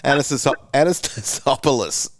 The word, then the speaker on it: Anastasopoulos: Anastasopoulos.